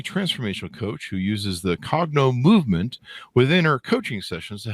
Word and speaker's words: Cognomovement: coach a uh what do how do I pronounce this correctly Katie a cogno movement you got it yep perfect cogno movement practitioner